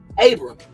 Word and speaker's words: Abram: Abram, okay, that's how you say it. That's the Hebrew right there, whose name means exalted father, and that's Strong's H87.